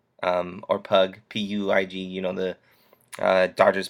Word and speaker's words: Puig: Puig is how you say it. I think it's or Pug, Puig.